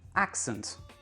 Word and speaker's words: accent: Par exemple, en français on dit un accent, accent. En anglais, on dit accent. Accent.